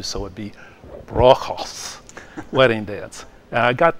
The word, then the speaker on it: Bruegel's: Now, Bruegel's Wedding Dance, that's kind of a Midwestern pronunciation of Bruegel, but actually Dutch Flemish, you would not pronounce the E and the U, so it'd be Bruegel's Wedding Dance.